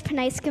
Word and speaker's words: Pranysqa: My name is Pranysqa Mishra, and I'm 9 years old, and I'm from Tampa, okay, Florida. Okay, there we go, Pranysqa. Okay, so now I know how to say it, Pranysqa.